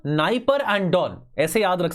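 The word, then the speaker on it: Dnieper: नाइप एंड don river तो निस्टर और नाइप पर में डी साइलेंट होता है ठीक है डेन्यूब नास्टर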